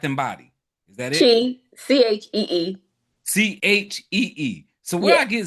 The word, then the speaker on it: ZHI: It's Z Bath and Body. Is that it? Chee.